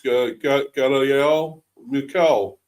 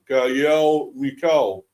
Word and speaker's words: Ngal'ayel Mukau: I don't know, but as I say, the N is silent in the name. It's Ngal'ayel Mukau, I believe his name.